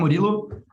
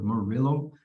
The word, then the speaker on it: Murilo: don't know five or ten minutes but i'm morillo i'm a ml engineer in y labs i've